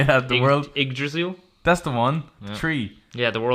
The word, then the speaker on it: Yggdrasil: The world Yggdrasil. That's the one. Tree. Yeah, the world tree. Yeah, when you access that, the particle effects there as well. Yggdrasil. It's Yggdrasil.